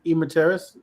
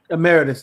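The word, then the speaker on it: emeritus: something like that I know IIs I think e materis I'm pronouncing that incorrect isn't that amus am Meritus thank you isn't that an honorary title they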